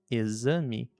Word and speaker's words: exame: Enquanto na palavra exame ela tem o som de Z.